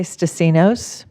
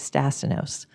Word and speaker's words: Stasinos: I say Stasinos Okay. with the accent on the end because that's the Greek way of saying it. Okay. But the rest of my family says it the American way, which is Stasinos.